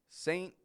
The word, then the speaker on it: saint: listening likely knows that those words are spelled with a t on the end p n t i don't pronounce that T I totally drop it off not only do we drop the T but we also pronounce the N much shorter than our regular n Sound notice I don't say